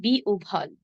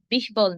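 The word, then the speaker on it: বিহ্বল: এর উচ্চারণ হবে জি উভা তেমনি বিউভল। বিহবল নয় বিউভল।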